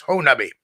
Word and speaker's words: Honobia: It was known as the Siege of Honobia, or for that, I'm pronouncing it like the locals. It's spelled like Honobia, but it's pronounced by the locals as Honobia.